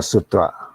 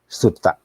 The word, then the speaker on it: sutta: nine composition night classes the first one is called sutang or a sutra or we also may announce or pronounce as sutta so the suta of